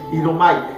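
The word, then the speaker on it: ἰάομαι: utiliza un verbo, hermano, que en griego es idomai, así se pronuncia, idomai.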